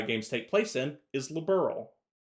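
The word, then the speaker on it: Liberl: But they're pronouncing it like somebody's a liberal like that person is liberal.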